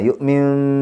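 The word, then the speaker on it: يؤمن: യുഅ്മിൻ ബില്ലാഹി സാവകാശമാണ് ആ ഒരു ബായിലേക്ക് അങ്ങ് പോകേണ്ടത്. യുഅ്മിൻ എന്ന് പറയുമ്പോൾ പെട്ടെന്ന് ചുണ്ട് കൂട്ടാതെ ചെറിയൊരു വിടവ് കൊടുക്കുക.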